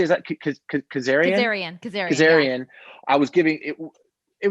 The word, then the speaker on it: Kazarian: Kazarian.